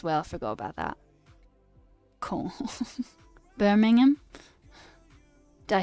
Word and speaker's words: Birmingham: Birmingham. Did I say it right? Birmingham.